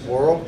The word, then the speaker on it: Worrell: Did I say that correctly? Pronounce it Worrell.